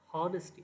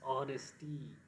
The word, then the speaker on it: honesty: Honesty, it's not honesty, it's honesty.